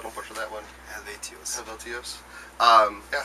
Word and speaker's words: Helvetios: How do you pronounce the new album, by the way, so I don't butcher that one? Eluveitie. Helvetios.